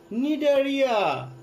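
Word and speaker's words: Cnidaria: পরেরটা নিডারিয়া। এখানে যে বানানগুলো আছে ইংরেজি বানানগুলো পাশাপাশি বই থেকে, বইটা মেলানো আছে নিশ্চয়ই, তোমরা বই থেকে একটু দেখে নাও। নিডারিয়া বানানের আগে আছে কিন্তু সি, উচ্চারণটা একটু ভিন্ন হয়।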